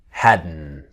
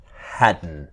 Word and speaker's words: hadn't: to hadn't and to hadn't so the same n of wasn't wearin Haden the t is silent okay so let's start